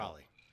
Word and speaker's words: Jolie: Jolly. It's Jolly. Damn it, you doxed yourself. I mean, it's spelled Jolie. That's how I can tell I don't know you.